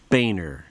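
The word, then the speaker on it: Boehner: sound it out now tell me it's pronounced bainer enough said okay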